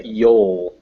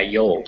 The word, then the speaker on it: you'll: So, and also it's a yol is the pronunciation of Y-O-U-L. Yeah, yol, just like that.